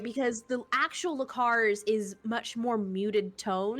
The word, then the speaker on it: LCARS: And I was worried, right, because the actual Lakars is much more muted tones. You're also at 20. Do you pronounce it Lakars or is it Elcars? Elcars. Elcars, because it's not.